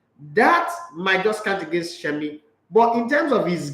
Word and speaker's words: Semi: Or Shemi, you can say his name is not Semi.